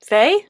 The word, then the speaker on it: Fahy: the project Dropped with Megan Faye. Her last name is spelled Fahy.